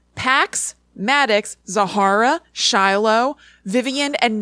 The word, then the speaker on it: Pax: names I checked later what paddocks well I said it wrong but it was pax Maddox Zahara Shiloh Vivien